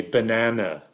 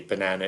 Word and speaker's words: banana: pass me a banana especially the first one you say ba even though it's spelt with an a is a so if you want to make that clear you use the glo use the schwa right you would say banana is b schwa n a n schwa